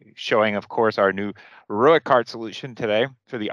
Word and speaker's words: ROEQ: Just so you know, what does ROEQ stand for, and it's pronounced ROEQ, robotic equipment.